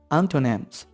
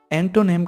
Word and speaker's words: antonym: their opposites, it means antonyms. इससे पहले एक चीज़ आपको बताता चलूँ कि अक्सर लोग एंटोनिम कहते हैं जो कि एक्यूरेट नहीं. Its actual pronunciation is antonym.